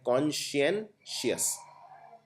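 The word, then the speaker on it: conscientious: कॉन्सेंशियस में आपको पहले इसको प्रोनाउंस ढंग से करना है कॉन्शियनशियस।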